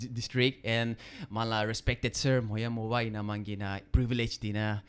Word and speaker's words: Mhonyamo: Mhonyamo, I'm sorry, am I pronouncing right? Yes. Yeah, Sir Mhonyamo, I'm sorry because every